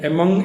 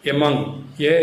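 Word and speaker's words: among: അതായത് രണ്ടിൽ കൂടുതൽ ആളുകളോ മറ്റോ വരുമ്പോൾ മാത്രമാണ് നമ്മൾ എമങ്ങ് എന്ന വേർഡ് യൂസ് ചെയ്യുക അതിന്റെ പ്രൊനൗൺസിയേഷൻ എമങ്ങ് എം ഒഎൻ ജി ആണ് എമോങ്ങ് എന്നല്ല പകരം എമോങ്ങ്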